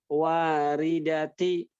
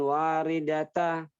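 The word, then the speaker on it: واردةِ: Waridati, bukan waridata.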